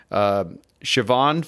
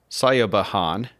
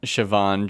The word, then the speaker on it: Siobhan: Siobhan Fahey, or Sayobahan, right? That's how it's pronounced, maybe? Not at all.